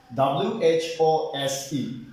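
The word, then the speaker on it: whose: w-h-o who was silent w-h-o-s-e who's w silent w-h-o-l-e whole w is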